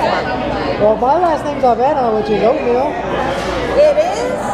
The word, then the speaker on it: Avena: Because it's spelled with the N-A, right? At the end? A-V-E-N-A. Yeah. And that's pronounced Avena.